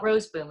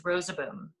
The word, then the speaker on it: Roseboom: And if you really want to know, it has 3 syllables. It's not Roseboom, it's Rosaboom. And it's a corruption. I've taught you a new thing. It's actually a corruption of Rosebaum, rose tree. And so if you take that into account, the old timers do pronounce it with 3 syllables.